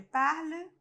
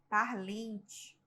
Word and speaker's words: parlent: Geralmente, o aluno ele tem a tendência a pronunciar o NT, parlem, parlente, parlente. É normal porque você está vendo, né, NT. Mas não se pronuncia, tá? Se pronuncia só o E, parle. É um semi-E, tá? Não é parler, não é um E forte, tá? É um E quase mudo.